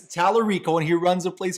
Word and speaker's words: Tallarico: I'll do the heavy lifting okay okay it's talarico and he runs a place called The Beat